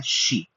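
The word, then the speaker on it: ξι: 14 अक्षर को जो हम लोग कहते हैं वो है शी एक्साइट शी जैसे शोमी शियोमी जो उच्चारण होता है जो चाइनीस भाषा में बहुत देखते हैं। इसको शाई बहुत लोग बोलते हैं ऐसा नहीं है।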